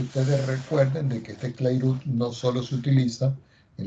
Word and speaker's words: Clairaut: Se escribe Clairaut, pero se pronuncia Clairaut.